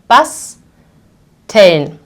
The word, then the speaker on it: basteln: I will see that basteln. So the first syllable ends on S, so I will pronounce it as a sharp S.